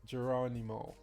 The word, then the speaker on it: Geronimo: me to pronounce it geronimo right yeah geronimo okay he said like the song so draw anymore draw